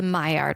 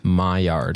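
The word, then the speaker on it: Maillard: of What's called the my yard reaction my yard it's spelled almost like mallard duck it's m-a-i-l-l-a-r-d I think it's French from my yard oh nice it was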